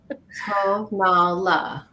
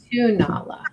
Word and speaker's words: Tonala: Tonala is what Renee says for pronunciation. Tonala. And some people say Tonala.